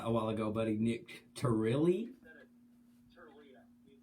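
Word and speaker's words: Tirlea: Nick Turili? Turlia. You said it, I think you said it right. It's Turlia, T-I-R-L-E-A, Turlia.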